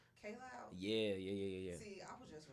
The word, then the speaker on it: Kaj Loud: mispronouncing my name, but it's actually pronounced K Loud. K Loud. Yeah. See, I was just reading it said See, KJ.